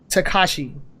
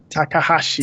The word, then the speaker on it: Takahashi: mountain lover and that is VentureBeat journalist Dean Takashi Takahashi takahashi sorry I just butchered that okay so have you ever have